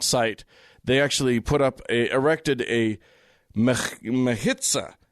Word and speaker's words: mechitza: And contrary to the custom of that site, they actually erected a mechitza. Mechitza, I'm going to say is the pronunciation. That's just a guess.